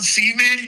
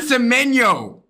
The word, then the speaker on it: Semenyo: We have Jeremy Doku, Antoine Seaman, yo, Phil Foden. Antoine Seaman? Antoine Seaman? Fuck. Man City, nigga. Antoine Seaman? Seaman, yo. Yeah, his name is Antoine Seaman. You mean Semenyo?